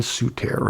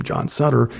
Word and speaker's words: Sutter: was called sutter's fort his name was johann souter and we americans decided this mother was mispronouncing his name so we decided to call him john sutter and after a while he said okay okay i'm john sutter um and he needed